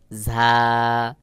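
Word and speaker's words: زاي: ঝার আওয়াজ বাহিরের দিকে হালকা বাতাস বের হবে এবং আওয়াজটা একটু শক্ত মতো করে উচ্চারণ হবে, যেমন ঝা। ঝা উচ্চারণের ক্ষেত্রে বাহিরের দিকে অবশ্যই বাতাস বের হবে, যেমন দেখুন, ঝা ঝা ঝা।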